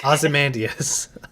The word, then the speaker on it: Ozymandias: Ozymandias. Ozymandias?